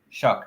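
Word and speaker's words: Shough: Shuck.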